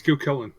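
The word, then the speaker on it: Cú Chulainn: Yeah, it's Cucullin. Yeah. Oh, I'm sorry. That's Geronimo. That's Geronimo. Okay. Yeah, that's Geronimo. All right. He is a okay. caster. This is American cool. Cucullin.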